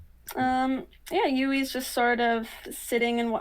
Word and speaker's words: Ywy: wait um yeah ui's just sort of sitting and oh her her uh ui's name is spelled ywy just so you know yeah UI uh this is